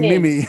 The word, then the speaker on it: Mem: Yeah, they do call me Mim. Sometimes I get called Mim as well. Oh, do you? Yeah. Not Mimi, but Mim. M-E-M. Yeah, rather than Mem. They do. They pronounce it as Mim.